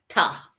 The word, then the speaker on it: Ptah: And the answer came up, Ptah. I know people say it should be pronounced Ta, but I put that P into front of it so people can recognize it.